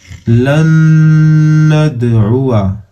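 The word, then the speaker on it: لن ندعوا: लन, नून जबर नून, दाल जबर नद, ऐन पे सू, वा जबर वा, लन नदउआ, लन नदउआ। उआ पढ़ देंगे, अलिफ को नहीं पढ़ेंगे, यहाँ पे साइलेंट है।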